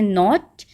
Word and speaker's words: knot: Then KNOT, इसको हम पढ़ते हैं नॉट।